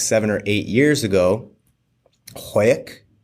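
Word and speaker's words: Hawick: or eight years ago hoek probably pronouncing that wrong h a w i c k yeah you right oh yeah okay is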